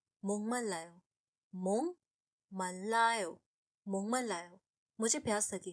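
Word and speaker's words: 목말라요: इसे मोक मल्लायो नहीं बोलते हैं, इसे बोलते हैं मोंगमल्लायो। बेसिकली का साउंड एनजी अंग का साउंड बन जाता है।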